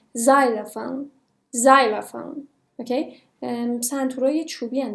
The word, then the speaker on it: xylophone: حرف اولش ز تلفظ میشه. xylophone.